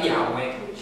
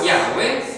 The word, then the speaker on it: Yahweh: Per cui Y, H, W e H, che più o meno si dovrebbe pronunciare Yahweh.